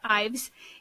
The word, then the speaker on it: Ives: you want to share sure yeah I'm Ives you said e would be amazed at how many people mispronounce IES and so I was kind of